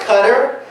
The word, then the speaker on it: Qatar: Qatar he was like actually it's pronounced cutter I said oh right